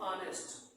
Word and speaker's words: honest: ऑनेस्ट की superlative degree क्या हो जाएगी, मोस्ट ऑनेस्ट, ठीक है, बोला क्या जाता है, ऑनेस्ट, ऑनेस्ट एच साइलेंट रहता है, ऑनेस्ट, ठीक है, मोस्ट ऑनेस्ट।